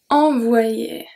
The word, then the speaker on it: envoyer: So EN make the sound en once again. And then we have the Y here that makes the pronunciation very specific. Envoyer. Yeah. Okay? And then the ER is pronounced E.